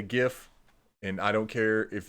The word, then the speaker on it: GIF: you can't change my mind I I say gif and I don't care if you have Neil deGrasse Tyson reach out to me and tell me it's jiff I still will pronounce a gif and that's just how it